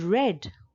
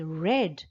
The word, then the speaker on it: read: past form it becomes red although it is spelled the same that is r e a d but it is pronounced as red number 27 is ride